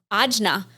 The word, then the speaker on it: ajna: Third eye in the chakra system, as we pronounce here, is ajna, third eye.